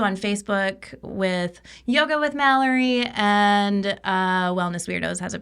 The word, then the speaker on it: Malorie: I'm Malorie. You can connect with me on Instagram with Malorie like Calorie. That is Malorie spelled like calorie.